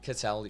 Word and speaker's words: Cattell: Did I say it right? Cattell?